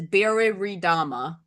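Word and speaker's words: Biriridama: I feel like there's an extra re here that I'm not pronouncing properly. Biridama. There we go. That's where it is. Biridama.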